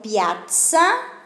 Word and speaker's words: piazza: Dale, entonces la pronunciación piazza, la misma de pizza, hay que pronunciar bien la Z, La Z en italiano.